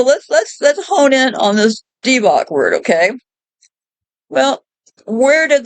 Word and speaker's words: Divoc: However, they claim this is a coincidence, as the Hebrew letter bet or two can be pronounced B or V.